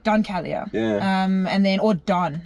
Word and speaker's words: Don Calya: Don Calya, but Don.